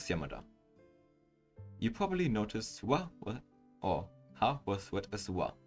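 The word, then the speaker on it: を: O, the particle represented by O is actually pronounced O instead of wo.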